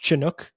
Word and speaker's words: Chinook: I want to talk about your time is it pronounced Chinook? Am I saying that correctly? Like SH, but it's CH.